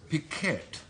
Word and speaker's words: piquet: And it's piquet. Is it pronounced piquet? Yes.